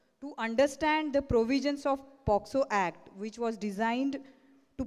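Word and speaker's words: POCSO: बरेच medical fraternity म्हणतात POXO, कोण म्हणतात POSCO. So it is a POXO.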